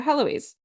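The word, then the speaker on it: Héloïse: out fire and Heloise so it is Heloise with the H it is pronounced that way okay so Heloise so nobody can paint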